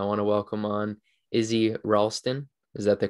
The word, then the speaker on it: Ralsten: right everybody i want to welcome on izzy ralston is that the correct pronunciation yeah perfect so i want to welcome